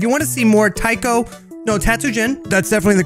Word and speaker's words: Taiko no Tatsujin: enjoyed this if you want to see more taiko no tatsujin that's definitely the correct pronunciation don't worry about sweetheart if you want